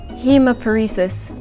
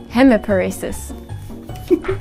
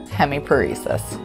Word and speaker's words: hemiparesis: so can you try to pronounce this word temporary hemiparesis hemoparesis wait no wait hemiparesis is that one close hemiparesis split on mcgee spelling majorly i can